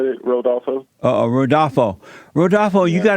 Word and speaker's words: Rodolfo: pronounce your first name? The way you said it, Rodolfo.